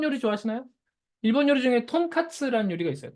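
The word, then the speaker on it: とんかつ: 일본 요리 중에 톤카츠라는 요리가 있어요. 톤카츠 아시죠? 한국어 발음은 뭐죠? 돈가스죠.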